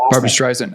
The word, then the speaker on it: Barbra Streisand: streisand what's what i don't know how you pronounce her barbra streisand oh okay yeah so it's a barbra streisand